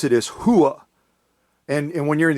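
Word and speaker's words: hooah: that first word on top there which you pronounce it is hua and and when you're in the army and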